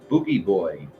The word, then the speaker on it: Boo Boy: a baby face mask as boo boy pronounce boogie boy it's pronounced boogie boy a symbol of infertile